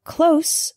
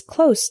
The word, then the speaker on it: close: are two common examples the word close with an S sound means near not far for example my house is close to the bus station